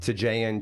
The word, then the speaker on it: Tajan: T, so that's the easy way to pronounce my name, but it's Tajan, TJN. Those are the three letters of my last name.